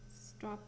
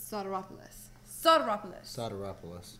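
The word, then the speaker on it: Sotiropoulos: I can never pronounce his last name. I feel so bad. Try again. Stropolis. I can't remember like the actual pronunciation. You'll have to. Soteropoulos. Like. Actually, George told me I said his name really good. Soteropoulos. Actually, he said all Americans can say it.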